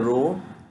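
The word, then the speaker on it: rho: So rename operator is denoted by the row, which is pronounced as the row, and this is used to change the name of relation and relation attributes.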